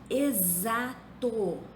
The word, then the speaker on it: exato: Exato se escreve com X, mas se pronuncia como se fosse Z. Existiu se escreve com X, mas se pronuncia como se fosse Z.